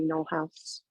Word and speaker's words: Knoll House: Am I pronouncing that correctly, Knoll House? You are, yes.